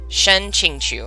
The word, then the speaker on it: Shen Qingqiu: Shen Qingqiu, I think is how it's said.